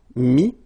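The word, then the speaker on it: mis: Then E-T-T-R-E will give you this I-S, but then you don't pronounce the S, so you get I. Mettre, mi, and then E-N-D-R-E, I-S, but then same thing here, the sound E.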